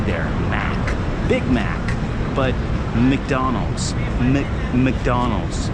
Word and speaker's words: McDonald's: But McDonald's. Sometimes you don't even pronounce the C. McDonald's. McDonald's.